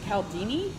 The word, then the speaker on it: Cialdini: I think it's Cialdini.